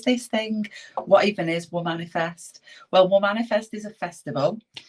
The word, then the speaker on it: Womanifest: So just for clarity, it's Womanifest. So it's a spin on manifesting in a weird way, right?